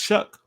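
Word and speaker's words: Shough: Sanders from Colorado Tyler shuck who and yes his name is Shuck are you looking at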